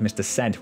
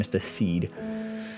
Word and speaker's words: Sed: And then they've said how to pronounce his name, which is Mr. Sed rather than Mr. Seed.